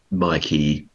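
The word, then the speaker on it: Maquis: lane came from so we tend to pronounce it as my key to sound like the French word I don't know what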